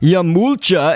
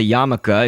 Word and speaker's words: yarmulke: We're gonna put that all at the top, Yamulcha, except for it's a yarmulke. It just kind of is spelled like Yamulcha.